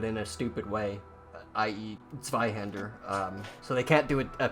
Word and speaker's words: Zweihander: Zweihander.